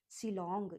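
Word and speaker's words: Shillong: सिल लॉन्ग ऐसे याद करो। एस एच आई एल सिल और सिल के बाद फिर लॉन्ग एल ओ एन जी two parts में करके सिल लॉन्ग सिलॉन्ग इसको प्रोनाउंस करते हैं।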